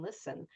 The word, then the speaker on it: listen: the silent B or a silent T for listen. We don't hear the T and listen.